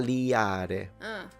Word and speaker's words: taliare: The Sicilian verb just with an L and it's tal.